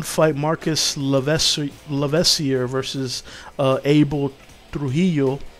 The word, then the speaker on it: Trujillo: The one fight, Marcus Lavesier versus Abel Trujillo, which I say Trujillo because, you know, I'm Spanish, so, but it's Trujillo. Americans say it, whatever. I'll say how I say it.